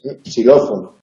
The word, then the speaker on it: xilófono: En posición inicial se pronuncia como S, xilófono, xilófago, no se pronuncia xilófago.